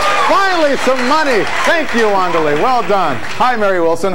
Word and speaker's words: Wandalea: Okay, the sign says Wandalea, but it's pronounced Wandalea, correct? Right. So that when I do that, everyone doesn't say, ooh, he's so familiar.